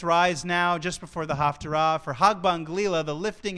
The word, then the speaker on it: Haftarah: The old Yiddish pronunciation, Haftorah, made people think that it was half the Torah, but it's really Haftarah, which comes from a different Hebrew word completely, which means conclusion.